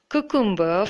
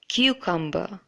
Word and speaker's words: cucumber: to the next word I had been pronouncing this word as koo kumba for I don't know for how long probably many years if you have been pronouncing it that way too then that is incorrect it should in fact be pronounced as cucumber cucumber so it's not